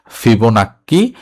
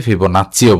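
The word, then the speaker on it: Fibonacci: কিভাবে হলো এটা হচ্ছে ফিবোনাক্কি হচ্ছে ধারা ঠিক আছে তো উচ্চারণটা হচ্ছে ফিব নাক্কী অনেকে হচ্ছে ফিবোনাচিও বলে থাকে এই ধারাটাকে।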